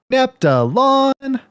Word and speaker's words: Neptulon: time keeping device and the line uh pronounces their name nepta lawn it's a it's a